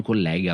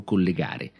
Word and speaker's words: collega: è collega e collega anche in questo caso cambia la e con collega con l'aria aperta intendo un compagno di lavoro il mio collega mario un esempio se invece utilizzo la parola collega con la è chiusa sto facendo riferimento al